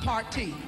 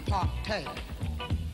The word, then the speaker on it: partay: Not party, partay. Party. Partay.